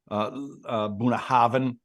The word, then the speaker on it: Bunnahabhain: It's ALLT-A-BHAINNE, and the BH, like in Bunnahabhain, is a V sound. So I would go Allt-a-Bhainne if I was pronouncing it.